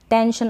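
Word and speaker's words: tension: तो इसकी प्रैक्टिस करनी पड़ेगी, नहीं तो आप कंफ्यूज हो जाएंगे कि टेंशन। अब वैसे भी एक दो बार प्रैक्टिस कर लेंगे तो TEN टैन और फिर TION शन तो नहीं लगाएंगे ना।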